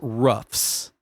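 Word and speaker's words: Roughs: But so this specific outpost was called Fort Ruffs. Fort Ruffs. Ruffs. Spelled like R O U G H S.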